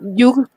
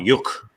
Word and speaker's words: Yug: It's an interesting thing about the pronunciation because I noticed a lot of Europeans call him Yuk. Yuk? Something like that, like as though his name ended in a Q.